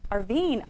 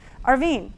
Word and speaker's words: Arvine: Arine. We have met. Yeah. Oh my goodness. Arine. And I think it's a R Ven. I so sorry. I just did that phonetically and that was wrong. Arvine.